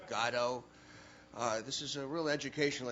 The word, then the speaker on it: Godot: other superstars and suddenly discovering that i've been pronouncing godot wrong the whole time and it's now gato this is a real